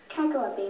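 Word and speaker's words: cacoepy: who most deserve it win T wey kaky Kaki may have the definition bad pronunciation Kaki c a c o e p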